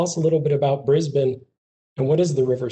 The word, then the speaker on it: Brisbane: So tell us a little bit about Brisbane and what is the River City? So Brisbane, a lot of people think of Brisbane, they think of the name, it's Brisbane.